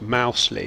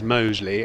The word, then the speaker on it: Mousley: supposed to be pronounced mousely and that his nickname is danger but according to many sages including our own commentator Richard the correct pronunciation is Mosley and apparently that's that's